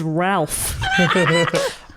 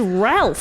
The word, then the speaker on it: Ralph: but his name is ralph it's that he pronoun doesn't he pronounce it rafe or something yeah which is it's